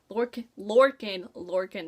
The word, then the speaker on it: Lorcan: Of course, Lorcan, that's how you say his name.